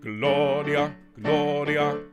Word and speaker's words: Gloria: lift um and we're we're going to emphasize the or sound and everything else we slightly lighter gloria gloria gloria okay so gloria okay the the strong syllable is the or sing that for me